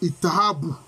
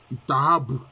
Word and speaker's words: Itahabu: Je suis l'âme du grand corps qui repose à, ils ont mis ITHB. Alors, je vais prononcer puisque les voyelles sont suggérées. C'est Itahabu. Itahabu. Itahabu.